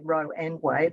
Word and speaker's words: Roe v Wade: v wade the americans we all say row and way the americans all pronounce the v so with roe v